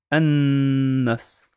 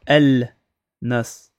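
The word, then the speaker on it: النّاس: Du coup, on va prononcer An-Nas. An. On va pas dire El Nas. On prononce pas le lam.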